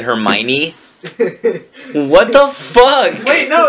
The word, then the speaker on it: Hermione: 66611 said Hermione. What the fuck? Wait, no, it's Bloody Mary. Yeah, but Bloody Mary. Why? No, she said Hermione.